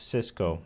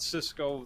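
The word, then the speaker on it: Sysco: Cisco, just to be clear, this is Cisco, the network equipment company, not Cisco, the food services company, which is spelled differently, although pronounced the same.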